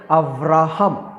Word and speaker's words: अव्राहम: फिर परमेश्वर ने अब्राम से उसके नाम को अव्राहम, इब्रानी में जो प्रोनाउंसिएशन है, जो उच्चारण है, वो थोड़ा सा फ वहाँ पे लगता है, कुछ डॉट्स, हिब्रू डॉट्स के कारण अव्राहम।